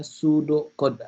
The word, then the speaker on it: pseudocode: Tulisannya pseudocode, tapi jangan dibaca P-nya ya. Jadi yang dibacanya pseudocode aja begitu ya.